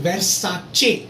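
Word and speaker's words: Versace: Then वर्साचे. CI अगर जिस word में है समझो इटालियन है लास्ट में, और CE समझो वो भी इटालियन है, तो C की साउंड च हो जाती है.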